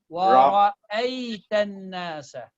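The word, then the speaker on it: وَرَأَيْتَ النَّاسَ: So break it. Break the letters. Don't try to pronounce them all together. Wa, ra, and then I have a and then ya. Ay, wa, ra, ay, tan, nasa.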